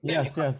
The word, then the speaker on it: Lemme: By the way, am I pronouncing that right? Is it? Yes, Rabbi, you are. Yes, Lemme.